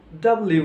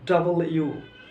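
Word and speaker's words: W: ভি এগুলো ঠিক আছে ডব্লিউ এটাকে আমরা কি উচ্চারণ করি ডব্লিউ ডব্লিউ ডব্লিউ নয় ডাব্লিউ নয় এটা কি ডাবল ইউ ডাবল ইউ অর্থাৎ ডাবল ইউ উচ্চারণ করব দুইটা ইউ পাশাপাশি যেভাবে উচ্চারণ করে সেভাবে ডাবল ইউ ডাবল ইউ একত্রে উচ্চারণ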